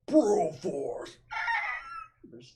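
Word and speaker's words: Broforce: yeah that little thing actually you didn't say it right it's bro Force there's always an eagle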